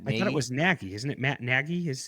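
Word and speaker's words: Nagy: on the podcast Negi Trent naggie not negi Naggie.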